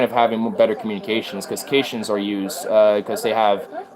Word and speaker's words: Caitians: Well, the first OG Furfag species was the Caitians. I thought it was the Kaitians, but I found out that the pronunciation is Caitian.